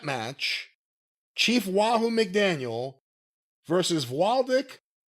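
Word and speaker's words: Wladek: Indian strap match, Chief Wahoo McDaniel versus Waldek Waldek, whatever you want to call it, Killer Kowalski. W L A D E K, it's Polish and yeah, there's a variety of pronunciations.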